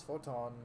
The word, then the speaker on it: Fortemps: I don't understand it myself, but it's spelled Fortemp, and yet it's sounding out Forton.